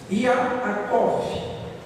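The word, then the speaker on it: יעקב: hebraico significa duas coisas no hebraico se pronuncia iacov I arakov significa transitando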